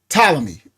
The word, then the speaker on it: Ptolemy: So it's Ptolemy. Yes. But the P is silent.